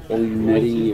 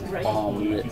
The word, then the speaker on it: Ouimette: How do they normally pronounce it? Ouimette or Omelette sometimes. I've heard everything. Yeah. But it's Ouimette.